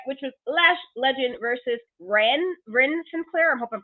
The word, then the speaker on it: Ren Sinclair: But let's now move on to the first ladies action of the night, which was Lash Legend versus Ren Sinclair. I hope I'm pronouncing that right.